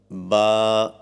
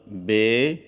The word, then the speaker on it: ب: Pronounce the mufradat letters with the Arabic accent according to the rules of tajweed and qiraat. For example, ba, ta, sa, and avoid Urdu pronunciation. For example, be, te, سے۔ Note: اصطلاح قرہ میں